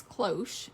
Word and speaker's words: cloche: on your phone anyway so we discovered that it's cloche in case you're dumb like us because you're probably thinking i knew that um but cloche at least according to